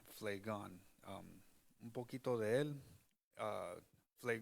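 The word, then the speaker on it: Phlegon: así Nosotros le llamamos porque en inglés se pronuncian con la pH pero en español es Play gone un poquito de él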